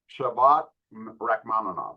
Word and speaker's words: Shavkat Rakhmonov: Yeah, Shavkat Rakhmonov.